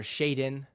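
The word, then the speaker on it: Shaedon: league for the Cavs Shaden sharp sha or Shaden if you didn't hear me pronounce it correctly Shaden sharp is injured so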